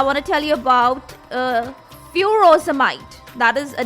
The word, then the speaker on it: furosemide: with a different spelling, so it sounds as frusemide. Okay, Frusemide, while in USA it is Furosemide. So the spelling is changed and the pronunciation changes.